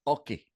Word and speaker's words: oke: Even though there was a Choctaw word spelled O-K-E and pronounced Oki, and it meant I understand. Could have been the genesis for the use of okay, that Oki, O-K-E, not or I understand, which is how we use okay today.